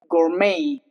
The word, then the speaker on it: gourmet: Gourmet. The T is silent.